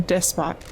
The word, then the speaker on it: despot: Do you pronounce that despot or despo? I've never actually known that. I've only seen it written. I think I say despot. Like I know like despotism. Yeah. But so I think I usually say despot, but I never really say it. I don't really either. So neither of the things you said. If it's a French word, it would be like, you wouldn't pronounce the T.